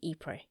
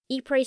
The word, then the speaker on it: Ypres: Basically, the British were planning to break through the semicircle of German trenches on the high ground overlooking Ypres. Ypres spelt Y-P-R-E-S, with a silent S.